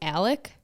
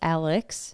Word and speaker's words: Alex: No, it's like a lot of people call him Alec. Even though it's Alex.